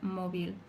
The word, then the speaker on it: móvil: For example, móvil, spelled with a V, but it's pronounced with a B, móvil.